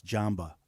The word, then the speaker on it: Jamba: It's, I think, would be pronounced Isaac Jamba. Instead of samba, it's Jamba.